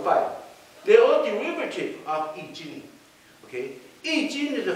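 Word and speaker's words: 易經: Because Confucius tried to explain in one book, a very ancient Chinese book called Yi Jing, okay? Yi. Jing. Okay, Yi, pronounce that. Y-I-J-I-N-G.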